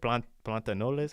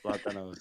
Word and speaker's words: plátanos: Plantanoles? How do you say plantains in Spanish? Plátanos.